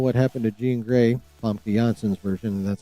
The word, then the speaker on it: Famke Janssen: The Russo brothers saith when asked if Avengers Doomsday will reveal what happened to Jean Grey, Famke Janssen's version, that's how her fucking name is pronounced, by the way.